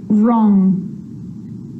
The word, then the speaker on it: wrong: The letter W is silent when it's at the start of a word before the letter R, like wrong and wrist, and right or wrote. It's also not pronounced in these common words: who, whoever, whole, to, sword, and answer.